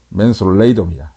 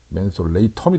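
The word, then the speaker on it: Mentholatum: 또 네가 뭐냐 보면, 원래 이 이름이 원래 맨소레담이 아니에요. 우리는 맨소레담 그런데 영어 발음을 내가 일부러 그래서 적어놨어. 맨솔레이덤이야. 맨솔레이덤. 여기도 보면 맨솔레이덤이지. 맨솔레이텀이 되겠지.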